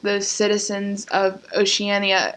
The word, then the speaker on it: Oceania: like the citizens of oceania oceania oceania oceania i hate that why can't it be oceana that's a lot better oceania i